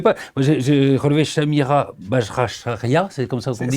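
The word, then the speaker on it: Chanira Bajracharya: qu'on ne connaît pas moi j'ai j'ai relevé Shamira rachia c'est comme ça qu' dit c'est pas mal prononcé exactement c'est c'est une une koumarie une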